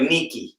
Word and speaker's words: Nike: see what i'm saying it's like nikki that's how you say nikki that's the proper way to say it later was the goddess